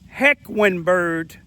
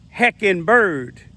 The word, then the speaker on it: Hequembourg: I think I'm pronouncing it right. The Q sound like a W. But some people say Hequembourg, like the flying bird with the wings.